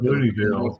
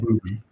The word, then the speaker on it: Booneville: It's right up there with Wright's up Booneville, pronounced Booneville. Yeah. No, it's literally spelled Booneyville. Yeah, Boone with an E at the end and then Ville. No, not Booney. Booney.